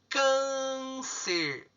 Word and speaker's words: câncer: O segundo passo é identificar a sílaba forte. Câncer, câncer. Qual é a mais forte? É o can.